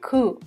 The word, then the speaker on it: coup: Another word that comes from French is a word coup, where you don't pronounce P in the end.